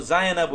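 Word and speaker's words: زينبُ: সময় আলোচনা করব অর্থাৎ এগুলো কোনদিনই তানভন গ্রহণ করে না কোনদিন এখানে তানভন হবে না এখন আপনি এই শব্দগুলোকে এবার উচ্চারণ করতে হবে হামিদু নাকি হামিদু হামিদু বলুন তো তানভন হবে নাকি হামিদু নাকি হামিদু হামেদ তো পুরুষবাচক নাম এজন্য হামিদু জায়নাবু নাকি জায়নাবুন বলুন তো আপনি বলুন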